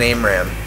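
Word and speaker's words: AMRAAM: Now, there's a common misconception in the Falcon 4 BMS community that aim rams can be pronounced differently than ARAM. But I'm going to, you know, I can vow on the graves of my father and greatgrandfather, King Cut, that that is the way to pronounce it. Anything else is pure blasphemy.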